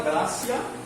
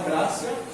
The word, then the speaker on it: gratia: Sola gratia, com T, mas pronuncia-se com C aqui. Sola gratia, só a graça.